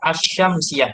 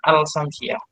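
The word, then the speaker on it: الشمسية: ditambahi Aldi depannya al-islam yang bacanya as-syamsiyah bukan al-syamsiah huruf Syamsiah itu alif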